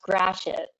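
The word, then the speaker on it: Gratiot: dangerous road in detroit this is it it's pronounced grashit um and it actually has a very different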